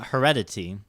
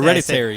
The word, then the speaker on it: Hereditary: We saw Heredity. I think I say it wrong. People say Hereditary.